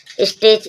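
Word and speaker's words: stitch: लाना टी के बाद सी एच आया टी साइलेंट है स्टिच स्टिच मींस सिलना टी के बाद सी एच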